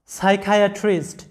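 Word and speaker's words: psychiatrist: এরপরে সাইকিয়াট্রিস্ট, দেখো এটার উচ্চারণটা হবে সাইকিয়াট্রিস্ট। এখানে লক্ষ্য রাখো যে এই শব্দগুলোর মধ্যে পি সাইলেন্ট থাকবে, যদিও শুরুতে পি আছে, এখানে পি সাইলেন্ট থাকবে, কারণ এস এর আগে পি থাকলে পি অনুচ্চারিত থাকে, সাইলেন্ট থাকে।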